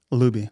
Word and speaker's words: Looby: what's your last name Luby like Scooby oh that's right uh